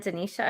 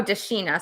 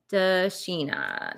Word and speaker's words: Dashina: there and andrea and denisha again oh dashina sorry i don't know why i pronounced that wrong da sheena dashina i gotta make sure i pronounce that right uh then monica i